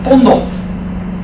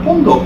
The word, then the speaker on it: pondok: By the way, the word pondok, which is Malay, well, Malays have a problem with pronouncing F's and V's. They turn them into P's and B's.